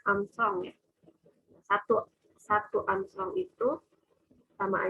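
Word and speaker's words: ångström: Nah, ini tuh dibacanya Armstrong ya.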